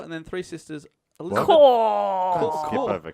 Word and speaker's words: Cor: over core. Cor. So, yeah. Cor. It sounds like, yeah. Oh, I don't really feel like going out tonight. Cor. Cor. Cool. Oh. Check out her tits. Core.